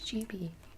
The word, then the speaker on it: Jibi: really liked it but everybody thinks it's pronounced jubi and it's not it's jibi not jiby my necklace of tiny